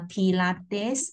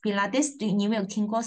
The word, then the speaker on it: Pilates: gentleman right and also there's another one uh pilates pilates must be like this Pilates show you this